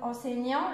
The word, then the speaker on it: enseignant: Par exemple, enseignant, le T ne se prononce pas, et tous les autres, ça se prononce.